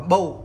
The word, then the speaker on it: Bose: anh em nhiều tuổi cũng hay gọi là BOSS tại vì mình cứ thấy đọc ở đây